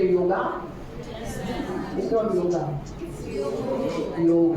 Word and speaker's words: योग: आपने योग के बारे में सुना होगा। योग नहीं, यू से योगा, इट्स नॉट योगा, योग ग पूरा है, योग नहीं, योगा भी नहीं, योग।